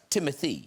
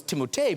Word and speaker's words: Timothée: It's pronounced Timothee. It's whatever you'd like. Because I always thought, I don't know if you guys, I thought it was Timothée because of the double E's at the end.